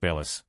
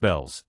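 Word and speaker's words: Bealls: store bill's name like Bellis. Last week, my friend looked at me funny, pointed at the bell and the A of the name, and said, "It's pronounced bells. Don't you see the bell?"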